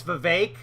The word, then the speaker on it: Vivek: Honestly, he would score a bunch of points if he just said, folks, it's Vivek. It rhymes with cake.